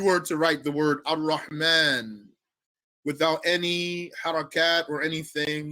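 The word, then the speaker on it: الرحمن: any harakat or anything, you do not write the alif. If you see it written, it's wrong, actually. It should not be written with the alif. But you pronounce that alif.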